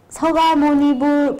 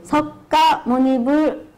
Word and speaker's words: 석가모니불: 발음하실 때 서가모니불 부드럽게 하는 거 아시죠? 석가모니불 아닙니다. 네, 부드럽게 서가모니불로 이렇게 합니다.